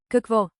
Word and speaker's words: Какво: Say it slowly. Какво? Kahk vo, rising, then Е.